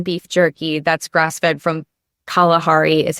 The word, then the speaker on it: Kalahari: I have Biltong beef jerky that's grass-fed from Kalahari is how you pronounce it.